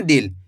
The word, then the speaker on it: दिल: दिल।